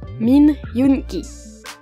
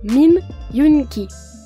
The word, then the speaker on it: Min Yoongi: le nom de shoua son nom de famille est min son prénom comprend le son you et un N suivi d'un mélange entre Guy et k son nom complet est donc min yunki à vous min yunki